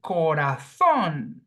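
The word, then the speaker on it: corazón: the word corathon right see that there are three syllables Co raon but phonetically the sound falls on the last syllable corathon the same happens with animal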